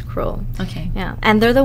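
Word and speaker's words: Kroll: contract for them now Cru is spelled how k r o l l okay so that's cruel okay yeah and they're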